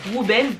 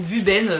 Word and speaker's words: Wuben: Wuben ou Vuben si vous prononcez à la française.